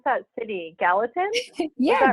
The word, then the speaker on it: Gallatin: I don't even know how to pronounce that city. Gallatin? Yeah, Gallatin.